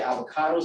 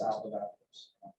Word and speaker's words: Avogadro: A lot of people say avocado's number because it looks like it's spelled avocado, but it's Avogadro's.